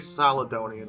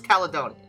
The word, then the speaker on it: Caledonian: I I I I think it's a hard C, but it might be uh it might be a a soft C. You know, C's are funny like that, but I think I I always thought it was Caledonian, so I'm going to go with that.